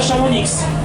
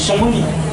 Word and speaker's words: Chamonix: Au Chamonix s'écrit avec un X à la fin, on ne dit pas Chamonix, on dit Chamonix.